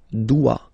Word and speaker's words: dois: Okay, remember final S is not pronounced. Je dois. OI, when you combine the two, you get the sound wa wa wa.